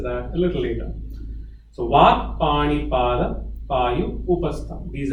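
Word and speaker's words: vāk: Vak. V-A, capital A-K, Vak.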